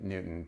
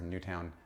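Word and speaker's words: Newtown: will go get lunch in Newton because or new town I've heard it pronounced both ways because the food there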